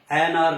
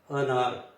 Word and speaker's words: अनार: सबसे पहले है अ, इसको अ कहेंगे क्योंकि अ से अनार होता है, एनार नहीं होता, अनार।